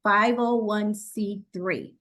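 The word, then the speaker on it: 501(c)(3): status from the IRS it's a tongue twister it's 501 then it's the letter c then three cuz sometimes we get confused and say it wrong so 501c3 we have to ensure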